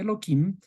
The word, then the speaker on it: Elohim: Este nombre de Dios viene de Elohim, que deberíamos pronunciarle simplemente Elohim para de alguna forma no decir explícitamente el nombre de Dios abiertamente.